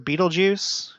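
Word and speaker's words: Betelgeuse: the past in 2019 the star of Beetlejuice in my understanding is that is how it's pronounced and that it actually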